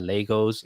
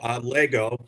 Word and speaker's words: Lego: with your time at Legos Sure. up to your current role? Yeah, sure. So Lego, Lego likes to pronounce the Lego not with the S, because then you start to get into generics.